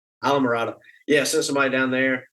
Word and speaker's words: Islamorada: Isla Mirada. Isla Mirada.